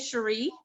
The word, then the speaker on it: Cherie: okay and what's your name my name is sheree sheree sir how do you spell that c-h-e-r-i-e okay all right and and and cherie i